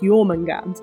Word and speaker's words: Jörmungandr: I will also say you'll probably notice that it's got an r on the end however this word you don't pronounce the R I did so in